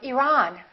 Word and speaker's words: Iran: at the next one did you say Iran or Iran it should be the second one he's from Iran he's from Iran let's look at the